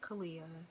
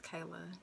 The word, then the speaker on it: Kaylia: name right there the aya Simon it's not pronounced Kalia it's not pronounced Kalia or anything like that is Kayla and I always tell people just like the